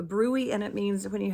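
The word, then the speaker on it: bruit: So, that's pronounced brewy.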